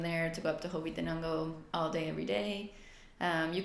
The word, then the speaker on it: Hobbitenango: leave from there to go up to Hobbitenango all day, every day.